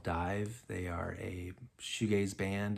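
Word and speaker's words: DIIV: Dive, it's spelled D-I-I-V, and really cool stuff.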